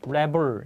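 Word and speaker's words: rebel: 제가이 단어 때 말씀드렸습니다 얘 발음이 레블 여기서 레블 그러면 반란군 반란자 복도입니다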